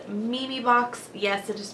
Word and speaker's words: Memebox: reviewed these boxes before the company is called Mimi box yes it is pronounced Mimi not mayay it is Mimi box and they are a